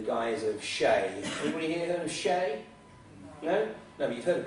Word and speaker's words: Xe: makeover is so good they've renamed themselves shay but don't waste your time going and googling shay not yet anyway not until i tell you how to spell it because you know you think shea s-h-a-y they spelt it x-e but don't go googling